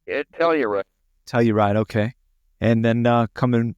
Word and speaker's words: Telluride: And do you pronounce it Telluride? Telluride.